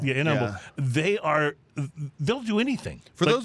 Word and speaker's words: Humble: But when you're around here, you don't pronounce the H for whatever reason.